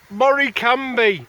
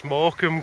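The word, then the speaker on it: Morecambe: he can't pronounce that oh look Mor cambi no that's morom Carl morom it's all right his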